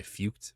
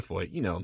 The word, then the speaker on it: Feucht: pronouncing his name, because I'm pronouncing it correct. But sometimes people say Feucht, but it's Sean Feucht.